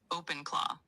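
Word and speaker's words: OpenClaw: That would be pronounced open claw. Just like it sounds. Open as in something not closed, and claw like an animal's claw. Simple as that.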